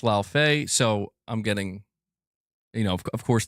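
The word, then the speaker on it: Laufey: It's pronounced Lao Fei.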